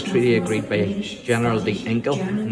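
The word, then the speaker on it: Ginkel: Generous by the standards of the day, the treaty agreed by General de Inkel, and the reason why it's Inkel is you don't pronounce the G in Dutch, and Patrick Sarsfield allowed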